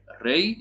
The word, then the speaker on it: rij: Czyta się Rej, jak Mikołaj Rej.